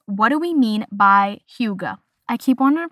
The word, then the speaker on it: hygge: We are going to talk about the Danish term huga which is spelled h y g e.